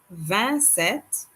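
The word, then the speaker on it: vingt-sept: remember not to pronounce the p in set vancet 28 van tweet van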